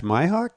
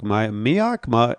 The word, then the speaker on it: Mihok: Dash Mihok? Mihok?